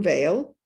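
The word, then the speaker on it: Weil: example of inclusive solutions simone vale which is spelled w-e-i-l a mystic political activist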